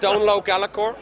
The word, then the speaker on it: Donal O'Gallachoir: rest of the world we like to make things hard to pronounce it's uh don low galor and from The glenlock